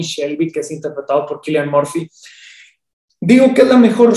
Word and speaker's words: Cillian: Protagonizada por Cillian Murphy, o más bien Killian Murphy, porque creo que así se pronuncia de manera sajona.